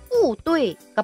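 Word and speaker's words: 不对: 다르게 하셔도 됩니다에 틀렸다는입니다 대로라면 뿌 뚜이가 맞겠죠 그런데 실상 발음은 뿌뚜이라고 한다는 거 뿌 뒤에 성이 오면 충돌이 나니까 오르락 내리라 기억하죠 그래서 보도라고 발음합니다 뿌 하고 나머지 성조를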